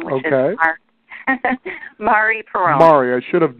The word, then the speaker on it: Mari: my name which is Mari Peron Mari I should have known better I was speaking with a Facebook expert and her name is Mari and she says it's Mari like in calamari but you wouldn't have